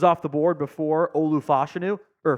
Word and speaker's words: Fashanu: chance he goes off the board before Olu fashanu or fashanu excuse me I realized we've been pronouncing his name wrong the whole time when